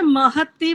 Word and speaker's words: महति: जी बहुत सुंदर, शोभनम, एकदम बढ़िया है आपका उच्चारण। आचार्य जी, महती बोलना है या महती बोलना है?